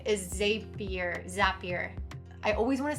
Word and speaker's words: Zapier: Okay, number 5 is Zapier. I always want to say Zapier, but on the bottom of the website, it says Zapier makes you happier.